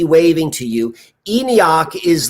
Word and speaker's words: ENIAC: uh e-n-i-a-c it's the electronic numerical but it's pronounced enoch just like enoch like nokian magic um two